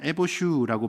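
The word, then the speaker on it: יֵבֹשׁוּ: 수치를 당한다는 단어는 에보슈라고 발음을 하는 단어이고 그리고 말라버린다는 단어는 야베쉬라고 발음하고 있습니다.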